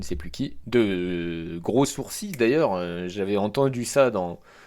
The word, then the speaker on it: sourcil: cette série d'animation Naruto le l de sourcil n'est pas prononcéi j'ai toujours dit des